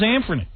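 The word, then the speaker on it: Anfernee: You know the guy's name is supposed to be Anthony. But they spell it Anferny, A-N-F-E-R-N-E-E. And what's his name? The commentator there. What's it? Our old buddy. Marv? Marv. He just says Anferny. Oh, yeah, everybody does. Like it's nothing.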